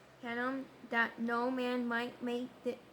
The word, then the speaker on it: Hinnom: Verse 10, and he defiled Tophet Tophet which is in the valley of the son of How to pronounce Hinnom? Hinnom that no man might make his son or